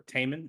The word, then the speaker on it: Timon: My name is Timon, or Taman is how I technically pronounce it, but I have heard both and accept both as proper pronunciations.